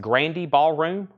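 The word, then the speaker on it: Grande Ballroom: poster this is um I believe I'm being told this is pronounced Grandy Ballroom right Grandy Ballroom this is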